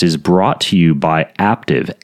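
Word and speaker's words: Aptiv: brought to you by active a apt IV it rhymes with active with the P isn't that cute active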